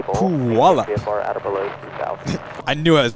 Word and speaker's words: Puyallup: Ah, it's pronounced Puyallup.